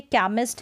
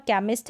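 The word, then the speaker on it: chemist: यहाँ पर देखिए केमिस्ट है, यहाँ पर केमिस्ट है तो यहाँ पर देखा आपने सी को क भी पढ़ दिया।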